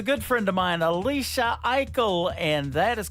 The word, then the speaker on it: Aichel: Unbroken, unbroken, She is another great Canadian artist, and she is a good friend of mine, Alicia Eichel, and that is called Unbroken.